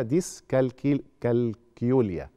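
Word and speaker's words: ديسكالكوليا: صعوبات الحساب ودي اسمها ديسكل كالكيوليا هي هتتنطق كده مش زي الكالكوليتر يعني تمام دي يعني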